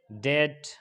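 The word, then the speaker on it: debt: अगर टी से पहले बी आए तो क्या होगा, बी साइलेंट होगा। जैसे डेट, डाउट, सटल।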